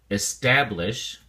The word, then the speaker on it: establish: look at the flashcard establish has three syllables and the emphasis or stress is on the second syllable staff so we stay say establish establish establish is used